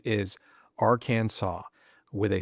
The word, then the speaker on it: Arkansas: The Arkansas code formally declares the correct pronunciation is Aransaw with a silent s and that's that. Final answer, no debate. Now, technically, this law isn't being enforced. No one is getting arrested for saying our Kansas.